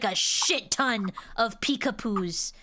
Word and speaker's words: Peekapoo: It's Pew, like Winnie the Pooh. I had a shit ton of Peekapoo. Wait, how do you spell it? Because I got a dog dude. P-E-E-K, like peek, and then poo, like P-O-O-H.